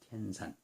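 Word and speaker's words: 天山: 중국 발음으로 하면 티엔산입니다. 티엔산.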